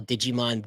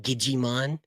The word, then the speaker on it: Digimon: So he would call Digimon Gigimon just to piss me off.